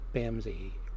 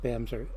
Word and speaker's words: Bamse: out somebody this time I'm gonna go with Bam ze her it spelled bmz but it's pronounced BAM sir and I've known him for a long time